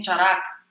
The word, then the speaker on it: Charaka: Muitas vezes, que nem Charaka, lá no livro Charaka está escrito Caraca, não está?